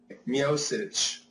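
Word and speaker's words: Miocic: know it is what it is wor steep mosich how did I say it did I say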